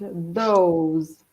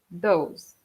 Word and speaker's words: those: And then we have the plural of that, which is pronounced those. Mm. Okay. So the TH is a soft kind of T, like those.